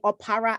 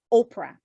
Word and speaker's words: Opara: and you know what some folks mispronounce my last name or para as oprah and do you think